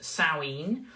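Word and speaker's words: Samhain: s m ha a i n but it's pronounced sinen which is the Celtic original celebration of the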